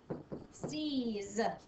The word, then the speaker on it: seize: We've got an S at the beginning that makes a soft sound. Soft. Seize. Z. And I definitely hear the z sound at the end. We've got a silent E.